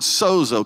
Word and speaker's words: sozo: and it's the word sozo. Can everybody say sozo? And it's spelled just like it sounds, S-O-Z-O.